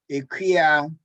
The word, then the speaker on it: Ekuwah: Feel free to say them along with my dad as we pronounce these. Edinkra, Edinkra, Ekuwah, Ekuwah, Ashanti, Ashanti, Ekuwah, Ekuwah, Fante, Fante, Kawano Pado, Kawano Pado, Sankofa, Sankofa, Sankofa.